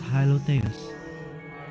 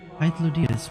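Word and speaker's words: Hythlodaeus: I only know that my name is Hylotheus. Sorry. Hythlodeus. And that, actually, you wanna know what? I'm gonna get a pronunciation on that.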